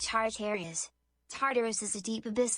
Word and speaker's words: Tartarus: Pronounced Tartarus.